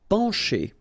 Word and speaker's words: pencher: Pencher. Okay, remember, E-N nasal, pen, pencher. Okay, C and H together will produce the sound sh.